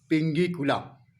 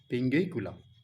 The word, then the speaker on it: Pinguicula: पहला प्लांट का नाम है पिंगीकुला। पिंगीकुला आप स्पेलिंग नोट कर सकते हैं।